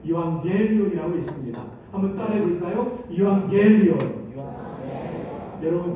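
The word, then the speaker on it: εὐαγγέλιον: 유앙겔리온. 여러분 발음이 너무나 좋아요. 유라는 말은 좋다, 복되다. 제가 노란색으로 하이라이트 했죠. 앙겔리온은 소식이라는 뜻입니다. 따라서 유앙겔리온은 좋은 소식, 복된 소식입니다.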